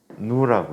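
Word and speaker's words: ν: 그리스 문자야. 그리스 문자. 누라고 읽어. 뉴.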